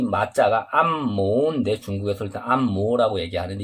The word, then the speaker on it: 按摩: 근데 한국에서 올 때 우리는 지금 안마라고 얘기하죠. 안마라고 얘기하는데, 중국에서는 안모라고, 이성인 다른 발음이, 이 발음이 두 개거든. 이 모자가 마 아니면 모, 여기 한국어로 하면 마인데 안마.